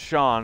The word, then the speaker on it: Sean: Sen or si and my name s EAN I do II before a but it's still pronounced Shawn if you have an H in it it's an Irish thing ever that wasn't we